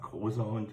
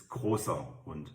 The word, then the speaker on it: großer Hund: The funny character here is sharp S, so it's not großer Hund, it's großer Hund. The Oscar. It's very similar to the English pronunciation, Oscar.